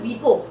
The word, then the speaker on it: WIPO: क्यों नहीं आता है, क्योंकि वीपो को अपन वीपो प्रोनाउंस करते हैं, WIPO नहीं करते, ठीक है, इसलिए वीपो के बीच में ऐसी सब जगहों पे फुल स्टॉप नहीं आएगा।